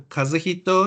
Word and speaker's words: Kazuhito: And I'm Kazuhito, or the Americans. Only a couple of pronounce Kazuhito, so I let them call me Kaz.